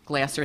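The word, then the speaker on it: Glaser: John, is it Glasser or Glazer? Glasser, thank you.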